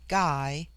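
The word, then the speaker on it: gy: the singular with man the word for woman is ghee pronounced hard as in gai it forms itself into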